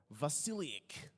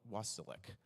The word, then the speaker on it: Vasilik: Vasilik. That's how you really pronounce it, but Wasilik for our countrymen.